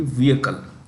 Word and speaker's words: vehicle: heavy commercial vehicle maker the edge in vehicle is silent so it should be vehicle which heavy commercial vehicle maker unveiled a production